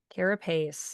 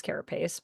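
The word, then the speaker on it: carapace: And uh Yeah, Cara Pace. Yeah, I thought it was carropace, but I'm always willing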